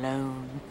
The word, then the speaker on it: Lone: Tom Lone. Rhymes with cone, phone, bone.